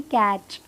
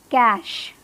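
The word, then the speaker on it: cache: तो correct pronunciation है, इसे कैसे बुलाएंगे, कैश, कैश, कैच नहीं है, कैश इज़ the correct pronunciation of this word.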